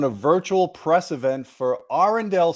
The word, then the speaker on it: Arendal: you awesome to have you so you say arendelle i say arundel what's the right way to pronounce the the company um actually i wouldn't the local local would say andal but that's not what how we say it